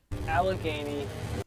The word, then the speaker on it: Allegheny: Project Fear released a new video at, how do you pronounce it? Allegheny.